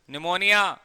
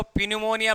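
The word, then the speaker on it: pneumonia: शाबाश, न्यूमोनिया। कई तो इसको पिन्यूमोनिया पढ़ते हैं, क्योंकि इसकी स्पेलिंग जो है पी से स्टार्ट होती है और पीस में साइलेंट होता है, तो कोई तो इसको पिन्यूमोनिया पढ़ लेते हैं।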